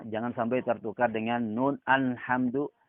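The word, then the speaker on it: الحمد لله: jalalah terdapat pada selamat alhamdu lillah alhamdulillah harus dibaca ajalah dan dibaca bola juga tipis lham dulu alhamdulillah jangan sampai tertukar dengan nun alhamdulillah atau al jangan ditebalkan our harus dibaca ditipiskan alhamdulillah kemudian eh terdapat lagi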